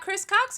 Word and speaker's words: ChrisLCox: you it's new got Chris Cox in the show there we don't say the L the L is legendary but it is silent so just remember that